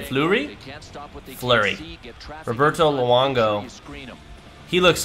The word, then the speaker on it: Fleury: Marc-Andre, how do you pronounce that last name? Fleury.